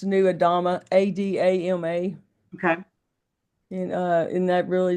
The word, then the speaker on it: Adama: Spell it. new, just like NEW, like New Earth, but it's New Adama, Adama.